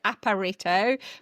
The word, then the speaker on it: Aparito: We founded Aparito probably 12 years ago now and we we do pronounce it Aparito but it gets pronounced in many ways and